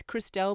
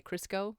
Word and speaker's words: Cristo: i'm saying it wrong it's cristo but i always want to say crisco because i say that more so here's where i'm